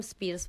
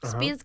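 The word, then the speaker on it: Speirs: se llamó William Bruce William Spears Bruce Spears casi como brindy Spears pero se escribe diferente Okay está bien la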